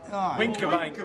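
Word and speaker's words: Wincobank: We went to the top of, how do you pronounce it, Winskabank Hill? Winkerbank.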